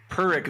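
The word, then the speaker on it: Pyrrhic: Um but perk victory, that's how you say it. Perk victory. Peric victory.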